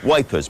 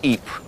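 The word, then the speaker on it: Ypres: called the wipers times wipers being how British troops mispronounced eat this was a newspaper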